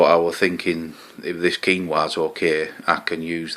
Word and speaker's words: quinoa: almonds uh some quinoa it's spelt quinoa i used to know it as quinoa but apparently it's quinoa some dried cranberries and